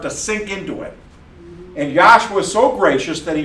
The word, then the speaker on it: Yahshua: Now, look, we're trying to make known not just that his name is Y-A-H-S-H-U-A and it's pronounced Yahshua. Some people say that our whole focus is physical letters, Y-A-H-S-H-U-A, and how it's properly pronounced.